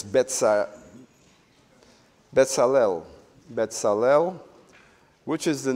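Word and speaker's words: בצלאל: Bezalel is how we tend to say it because it, in English, is spelled differently.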